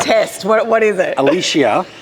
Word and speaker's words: Alicia: So now I have this huge I'm self-conscious about every time not saying somebody's name wrong. Test. What is it? Alicia. It's Alicia.